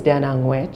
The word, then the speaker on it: Angwech: But the G is silent and I think it's a very popular common but is fine.